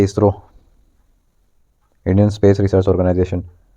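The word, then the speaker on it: ISRO: क्या वर्ड बना दिया यानी कि जिसको हम प्रोनाउंस भी कर रहे हैं इसरो बोल रहे हैं आईएस आरओ नहीं बोल रहे इसको ये होता है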